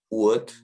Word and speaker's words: would: OULD로 끝나는 단어에서 LD가 이렇게 나왔을 때 L이 묵음인데요. 대표적인 예로는 could, would, 그리고 should가 있습니다.